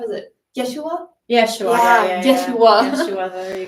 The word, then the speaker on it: Yeshua: way of pronouncing it that they would have pronounced it back in that time. How is it? Yeshua?